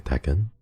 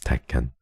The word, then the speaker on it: Tekken: for Iron Fist teken that's why it's like pronounced te it's not actually Tekken like one word but it's teken um but okay I I didn't sorry for